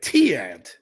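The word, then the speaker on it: Tiant: That's how you say it, Ciant.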